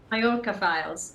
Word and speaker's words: Mallorca Files: find out all about, is it Mallorca or Mallorca Files? Mallorca Files. Mallorca Files. Wow, I said it right.